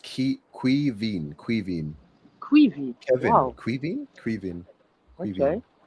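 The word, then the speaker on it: Caoimhín: His name is pronounced Quivin.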